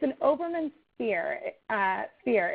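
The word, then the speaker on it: Hoberman: the name of that ball again it's an oberman sphere sphere it's called h or it's spelled h-o-b-e-r-m-a-n um sphere it's super fun the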